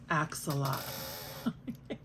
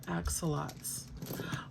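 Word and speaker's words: axolotl: haul so adorable and I know people pronounce it all different kinds of ways but I pronounce it acts a lot I got a whole bag of axolots look at this little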